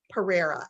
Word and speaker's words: Pereira: And I'm here today with Anna Pereira.